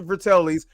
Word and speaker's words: Fratellis: Am I Yes, pronouncing that right? Fratellis.